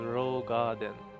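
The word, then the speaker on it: Roegadyn: still use the ancient roguadin language in their names it's actually pronounced as a rogue garden picking their own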